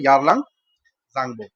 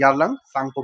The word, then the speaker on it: यारलंग सांगपो: तिब्बत में इसको बुलाते हैं यारलंग सांगबो, या फिर इसको प्रोनाउंसिएशन यारलंग सांगपो भी बोलते हैं, राइट।